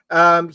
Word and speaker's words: Ejiofor: And I can never pronounce his name. It's Chiwetel Oh right. Ejiofor.